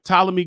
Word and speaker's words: Ptolemy: I was ready to say Ptolemy, but the P is silent. All right. Ptolemy Gray.